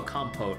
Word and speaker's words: compote: I don't know why I keep forgetting the pronunciation whenever I see this. Oh, compote.